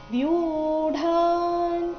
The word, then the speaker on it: ವ್ಯೂಢಾ: ಚಮುಂ ಬ್ಯೂಡಾ ದ್ರುಪದ ಪುತ್ರ ವ್ಯೂಢಾ ಇಲ್ಲಿ ವ್ಯೂ ದೀರ್ಘ ಆಮೇಲೆ ಡ ಚೆನ್ನಾಗಿ ಕೇಳಿಸಬೇಕು ವ್ಯೂಢಾ ದ್ರುಪದ ಪುತ್ರೇಣ ಇಲ್ಲಿ ಪೂ